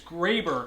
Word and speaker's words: Graber: grabber, there'd be two B's, not one B. The E makes the A an A, not an A sound. So my name is Graber.